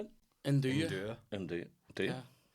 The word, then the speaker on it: nduja: induja. Indura. And do you? Yeah. So and do you like it? The J is non-existent.